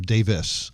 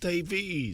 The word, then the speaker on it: Davies: Famer it is Dave Davies or Davis I should say which is how they say it over in England right Davis no Jonathan it's Davies it is Davies okay I'll take Davis